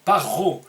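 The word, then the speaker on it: פרעה: Ro, dans ce cas, qu'on prononce Ro ici, qui veut dire le mal. À d'autres moments, il se prononce Ra, comme dans le livre de Bereshit, l'arbre de la connaissance du bien et du mal, Tov Vera. Ici, on dit Paro.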